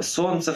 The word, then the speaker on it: солнце: нам еще со школы это слово солнце в котором нужно писать букву л и проверять словом солнышко это слово лестница в